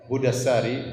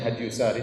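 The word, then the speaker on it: هدي الساري: Saya nukilkan dari kitab Hudassari, sebagian orang bacanya Hadyusari tetapi yang benar Hudassari, sebagaimana ditashkil, diberi harokat langsung oleh Ibnu Hajar rahimahullah, penulis buku.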